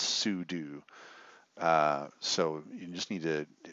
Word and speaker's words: sudo: here under system and sudio and it rhymes with voodoo I know in my brain even me not consciously thinking I read it as pseudo but it's not pseudo it's sue do so you just need